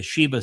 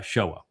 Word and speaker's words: Shewa: And they replaced the the waw with a V, but the Sheva system means to deceive.